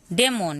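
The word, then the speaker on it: demon: डेमोन, यहाँ पे डी नहीं पढ़ेंगे, डे पढ़ेंगे, डेमोन, डेमोन।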